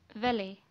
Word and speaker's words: valet: In this word, T is silent, so we will pronounce it as valet.